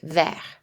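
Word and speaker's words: vert: to see this then in the masculine form our final consonant T is silent ver when we add the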